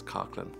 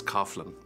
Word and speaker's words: Coughlin: Joe would say Coughlin Ben informed me that that's the way that it's pronounced here in America he's just one of